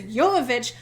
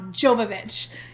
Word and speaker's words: Jovovich: i looked it up so on twitter she literally has the pronunciation of her name so i am 100 confident that is yomovich not jovovich even though i've said it wrong forever um but according to